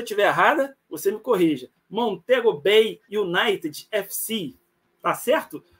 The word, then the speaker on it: Montego Bay United FC: Cláudio mei Campista jogador do Ó se a pronúncia tiver errada você me corrija montego bay Unit FC Tá certo Ô tá correto tá correto boa